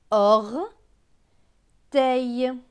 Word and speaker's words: orteil: OR se prononce or. T avec EIL. EIL se prononce eille. Donc T et eille, teille. Donc ce mot va se lire or, teille, orteil, mon orteil.